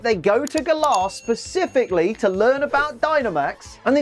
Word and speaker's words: Galar: Actually, Liam, I think you'll find the official pronunciation is the Galar region, not the Galar region. Yeah? Well, I'm from the country the region's based on, and here we call it Galar, so do one.